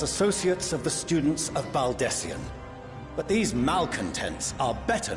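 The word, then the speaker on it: Baldesion: Baldessian, that's how you say it.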